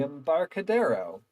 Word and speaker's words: Embarcadero: apartment finally we're walk around the M the Embarcadero yep that's how that's pronounced up to our bunch of vendors with